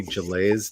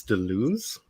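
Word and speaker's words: Deleuze: to pronounce it and it's apparently delays de Luz which feels wrong but I don't speak French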